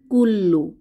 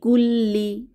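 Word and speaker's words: كلّ: বা অনিষ্ট পরবর্তী আছে কুল্লু কাফ দম্মা লাম সাদ্দা কুল লাম দম্মাু কুল্লু কুল্লু অর্থ সকল বা প্রত্যেক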